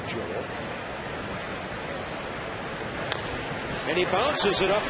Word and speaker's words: Joel: He told me that Joel is the Spanish pronunciation, but he's okay with Joel or Joel.